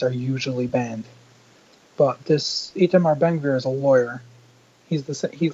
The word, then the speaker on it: Itamar Ben Gvir: Itamar Ben Gvir.